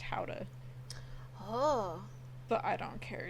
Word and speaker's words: Gouda: When I went to the Netherlands when my dad got married, that's where Gouda comes from. It's actually pronounced Gouda, Oh, but I don't care. It's Gouda cheese.